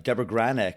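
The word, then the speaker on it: Debra Granik: And I actually got an opportunity, Kevin, to see you talk with director Deborah Granick. Did I pronounce her name correctly?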